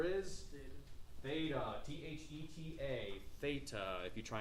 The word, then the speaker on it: theta: It makes the sound in Greek. Okay? The TH sound.